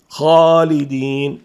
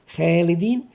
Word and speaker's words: خالدين: حرف تفخيم مثل خاء، إن جاءت بعدها ألف خالدين نفخم الخاء والألف فتكون الألف هنا مفخمة، لا نقول خالدين بل نقول خاء وليست خاء، فهنا تفخم الألف. خالدين الخاء مفخمة والألف مفخمة.